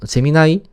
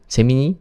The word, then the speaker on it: 제미나이: 그리고 재미나이 재미니 혹은 재미나이라고 읽기도 하는데요. 제미나이 또한 구글에서 만들어졌기 때문에